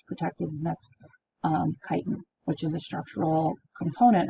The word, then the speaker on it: chitin: chitin i know it looks like it says chitin but it's pronounced chitin and that is the structural material that makes